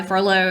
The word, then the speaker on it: Frollo: I can never say his name. I keep on right. saying Frodo, but that's wrong. Yeah, sorry. Wrong fandom. Yeah, wrong fandom. But she's chased by Frollo, and she ends up